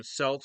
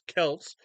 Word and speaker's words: Celts: I don't know if it's like the basketball team Selts, but if it's like if it's pronounced the way it's supposed to be, it's Kelts. 1921.